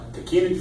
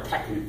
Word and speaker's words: tachinid: A tachinid fly or a tachinid fly, you'll hear it pronounced either way.